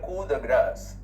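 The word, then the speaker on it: coup de grâce: government then you have cool the grass c o u p d e g r a c the grass notice that the p is silent in both these words the grass the final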